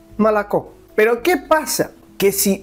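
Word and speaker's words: молоко: l o k o molocó. Pero como solo la última o es la tónica, las otras o se leen casi como una a malac.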